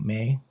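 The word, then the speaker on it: Mai: My May. Gosh, it's like I keep being told how it's pronounced and then I just keep forgetting. May, right? Like the month my is me. May is M AI.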